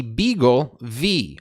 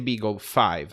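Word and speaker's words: BeagleV: been announced it's called the beagle v or the beagle five depending on how you want to pronounce that v so let's jump right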